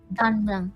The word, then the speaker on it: Don Mueang: Don Mueang. Don Mueang. Don Mueang, yeah. If I were to Good arrive in job. Don, thank you, clap. If I were to arrive in Don Mueang, I can take the, was it LRT to